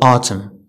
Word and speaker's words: autumn: N is not pronounced following M at the end of a word.